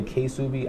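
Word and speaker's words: Ksubi: I know some people say K-Subi. I would say Subi because just how I hear it pronounced.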